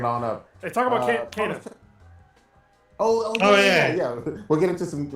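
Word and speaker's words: Kena: I still want to pronounce it Kina because of my black ass lisp and the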